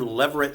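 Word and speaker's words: levirate: Have you ever heard the term leverit law? Leverit law. Yeah, it's spelled L E V I R A T E and it's described in Deuteronomy 25.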